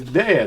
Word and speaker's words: Daya: I've been calling her Daya, and it ain't Daya, it's Daya, Navasha Daya, a terrific singer and the co-founder of the Youth Resiliency Institute.